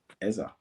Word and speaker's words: Eze: However, we can talk about the game, but we have to talk about Eza, Eberici Eza. Eze to some people, but let's pronounce it as it's supposed to be pronounced.